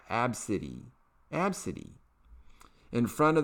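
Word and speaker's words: Abcde: only mocked her five-year-old daughter's name which is pronounced AB City AB City AB City in front of the young girl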